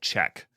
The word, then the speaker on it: Chkk: It's the company's called Check, but it's spelled CHKK.